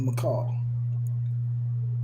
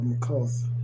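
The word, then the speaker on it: Malkuth: the phenomenal world of Makal, or Makoth, pronounce it either way.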